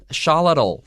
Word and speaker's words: Xolotl: 是跟掌管什么？是掌管闪电，然后火，还有这个疾病的这样的一个神奇。所以你看 Xalotl 这个字前面加一个 a 的话，就是我们的主角 axolotl。好，这个东西的话，其实你的相关程度一看就知道了。